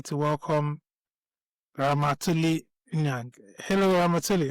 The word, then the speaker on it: Ramatoulie: I'm just gonna correct the name pronunciation, just the end of it. It's Ramatulai. Right.